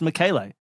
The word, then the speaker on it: Michele: It's like Michelle, but presumably in a masculine form, and pronounced Michele.